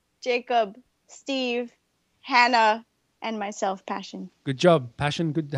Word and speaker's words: Pashyn: to anything me too they pronounce my name pasheen passion I get it all so basil Brad Belinda Jody Jen Jacob Steve Hannah and myself passion good job passion good